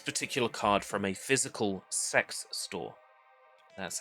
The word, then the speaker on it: CeX: I purchased this particular card from a physical sex store. That's how it's pronounced.